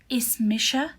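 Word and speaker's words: Is mise: say my name is so is misha is misha that means my name is so you put your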